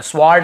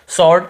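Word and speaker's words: sword: लेकिन यहां पे हमको डब्लू को नहीं पढ़ना स्वर्ड ऐसे नहीं पढ़ना है व को नहीं पढ़ना केवल शॉर्ट ऐसे पढ़ना है हमें क्लियर हो गया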